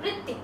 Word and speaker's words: वृत्ति: जैसे कि यह अगर मान लो ये मराठी का शब्द है तो ती का उच्चारण दीर्घ है, वृत्ति, लेकिन हिंदी में इसका उच्चारण करते हैं वृत्ति, वृत्ति ऐसा उसका उच्चारण है।